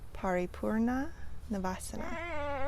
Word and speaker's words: Paripurna Navasana: Paripurna Navasana. Paripurna Navasana.